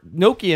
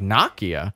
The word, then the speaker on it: Nokia: don't even know like it's actually nokia right yeah it's not even nokia i know i say it wrong i know i watch i watched that commercial that video for the 10 20 that they had and i'm like nakia yeah that's an o it's not an a